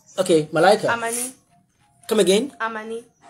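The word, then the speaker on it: amane: Amani. Amani, good. Ryan and Malaika. It sounds like Amy. Like, it's not like Amy, but it's Amani.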